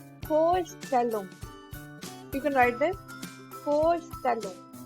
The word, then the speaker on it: Vorstellung: So when it comes in a word, the pronunciation is F. So this word will be pronounced as Vorstellung.